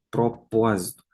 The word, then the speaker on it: propósito: Deveria de ter acento? Sim. Propósito. Trata-se de uma proparoxítona. Então, propósito, acento.